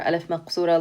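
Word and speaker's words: ألف مقصورة: it with alef remember alif maksura looks like a ya but it doesn't have dots and it's pronounced like an alif so same thing here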